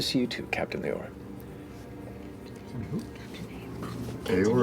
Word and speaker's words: Leore: Leore or Baylor? No, Leore.